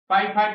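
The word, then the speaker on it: fie fie: फाई फाई माने छी छी, इसको गलत प्रोनाउंसिएशन भी लोग करते हैं, फीफी पढ़ते हैं, फाई फाई पढ़ना है।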